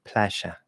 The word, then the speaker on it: playa: Um, but they'll actually say it as what we consider an SH sound in English, sh, and they'll say playa, right?